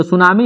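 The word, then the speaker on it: tsunami: का शब्द है तो जो सुनामी है यह जापानी भाषा का शब्द है जिसमें टी साइलेंट होता है टी एस यू एन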